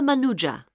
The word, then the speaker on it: Manuja: yes of course sorry my name is manuja uh can you spell that please m a n u j a